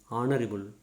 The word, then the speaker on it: honourable: For example, HOUR, our, HEIR, air, HONEST, honest, HONOUR, honor, HONORO, RIM, honorarium, HONORARY, honorary, HONOURABLE, honorable. All these are H is silent.